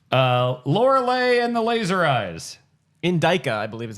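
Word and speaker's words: Indika: Indica, I believe is how it's actually pronounced. Yeah, sure. Get out. That's how they say it. Indica.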